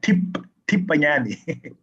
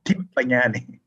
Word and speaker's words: Tipanyani: Just say tip, like Tipanyani. Right. Tipanyani.